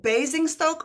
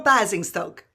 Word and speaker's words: Basingstoke: Basing Stoke or Bazing Stoke? You said it right the first time.